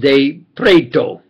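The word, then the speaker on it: De Pretto: swiss italian scientific friends especially michael baso augusto de pretero pronounced spelled capital d e capital p-r-e-t-t-o pronounced de preto and his engineering scientific researching brother olinto de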